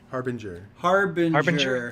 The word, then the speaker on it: Harbinger: for the Sentinel and Harbinger. Harbinger. Harbinger. It's not bringing nothing. Harbinger. Yeah. It's not bringing Harb. No, it's not a harp. It's the Harbinger jet.